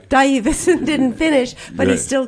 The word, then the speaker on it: Stuyvesant: The majority language to pronounce certain words, like in Dutch, you have a u, a uy, as in stuyvesant. It's not stuyvesant, the way but we it's say Stuyvesant.